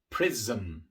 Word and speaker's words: prism: También en la palabra prism. Prism. La M también es una consonante sonora y por eso la S que viene antes se pronuncia de forma sonora.